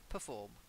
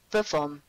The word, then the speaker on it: perform: signature perform okay but to perform they as in to give a performance it's the stress is on the second syllable okay try it perform perform that's it and revolution